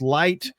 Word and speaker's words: LYHT: fact that it's LYHT which is pronounced light.